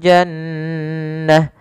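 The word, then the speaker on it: جنة: Kemudian pada lafal jannah, jannah, maka di sini nun tasdidnya kita namakan dengan bacaan gunnah. Cara membacanya adalah suara nunnya ditahan dulu, ya, jannah, tidak langsung jannah.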